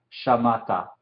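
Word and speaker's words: שָׁמַעְתָּ: Entonces sería shamata. No decimos el Shewa silencioso aquí.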